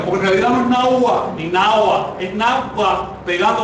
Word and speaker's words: náhuatl: De modo que el nombre de este grupo es náhuatl. Así, náhuatl, y las mujeres casi pronunciaban como F, náhuatl.